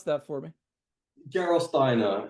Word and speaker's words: Gerolsteiner: Can you pronounce that for me? Gerolsteiner.